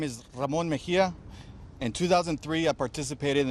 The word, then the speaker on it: Ramon Mejia: My name is Ramon Mejia.